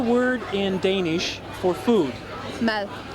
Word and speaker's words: mad: Mad. Mal. Mad. Mel? Mad.